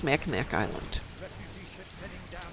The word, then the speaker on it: Mackinac: I think it's Mackinac Island.